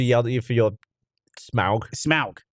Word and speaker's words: Smaug: The Hobbit is I just want to see Smog the dragon. Smog is what I said. Smog the dragon. She goes, no. She goes, no, Smaug.